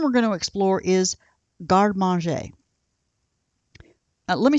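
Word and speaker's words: garde manger: and the term we're going to explore is garmanjae let me spell that for you m a g-a-r-d-e-m-a-n g e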